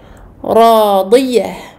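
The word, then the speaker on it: راضية: Radiyah, Radiyah. Donc Ra Mufakhama est prolongé de deux temps.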